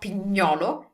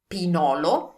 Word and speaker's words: pinolo: So remember, this is not pignolo, it's pinolo, one, or pinoli, more than one, pine nuts.